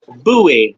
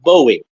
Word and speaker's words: Bowie: with an ivory handle and it is indeed pronounced buoy not Bowie Bowie is David the rock singer and he